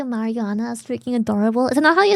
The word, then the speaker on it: marijuana: English pronounces it more like marijuana. Marijuana. J, not Y.